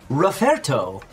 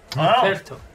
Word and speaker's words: Roferto: Roferto. Roferto. Very. That's. Wow. All right. What? Roferto. Roferto. Roferto. Roferto. Like rough. Roferto. Yeah. Like the sound the dog makes, but with an erto.